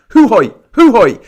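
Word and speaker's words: Jujuy: the San Salvador de it looks like Jujoy, but it's pronounced hoi hoi. I might be saying it wrong. I think it's pronounced hoo hoi. San Salvador de hoo hoi.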